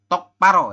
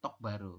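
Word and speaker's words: 똑바로: yorun untuk penjelasannya ya jadi tok paro ya bukan tok baru seperti itu Oke sampai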